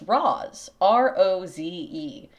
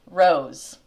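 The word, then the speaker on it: Roze: was reading this and I pronounced this ro o ze. It has a pronunciation guide at the beginning of the book and it says rose.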